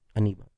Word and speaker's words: Anibal: Aniba. How do you spell that? Anibal. Ooh, Aniba. I like that. It's kind of like animal.